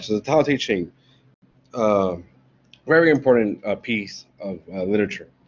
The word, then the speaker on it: Tao Te Ching: He's the one that wrote the Tao Te Ching, or the Classic of the Way, and its power. That's the way it's pronounced, translated, the Tao Te Ching.